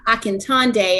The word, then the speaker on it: Akintonde: me here i'm akantande and i just repronounced my name because i like to say like tata like a magician and day to help with the